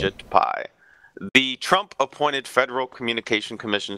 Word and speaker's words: Ajit Pai: I think it's Ajit Pai is how you say his name. Ajit Pai.